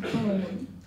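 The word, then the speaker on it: Beaune: a place in France it's pronounced bone but the name it's it's spelled b a u n e he asked the pope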